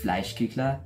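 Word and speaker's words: Fleischküchle: My family, we call it Fleischkuchle, or in the more accurate German pronunciation, it would be Fleischkuchle or something like that.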